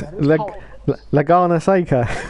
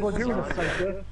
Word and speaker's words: Laguna Seca: Oh look, Gomez, it's Lagana Seca. That is Laguna Seca. Lasagna Seca. I'll say it like this. It's Laguna. There's no accent over that N, Jeff.